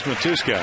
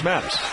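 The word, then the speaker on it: Matusz: It's who's this Matuska? And I go, well, and which is actually, I guess, the Hungarian pronunciation. But it's Mattis.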